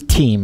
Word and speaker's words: Teem: his last name is Teem. It's spelled T-E-E-M, so Teem.